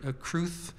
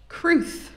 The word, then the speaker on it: crwth: instrument called the welsh crew or it was known as the crew in wales um kruth is spelled crwth naturally and i'm playing